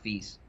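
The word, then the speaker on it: FISE: You know, everybody in America calls it FIs, but it's pronounced feast.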